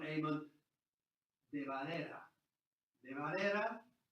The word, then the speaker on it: de Valera: De Valera is a Spanish name.